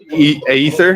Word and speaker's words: Aether: We're joined here today with our partners from Ocean, as you just met, Pixel Realms, Aether, is that how you pronounce it?